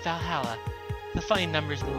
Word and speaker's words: VA-11 Hall-A: The name sounds silly and a bit hard to pronounce. Good thing they actually call it Valhalla.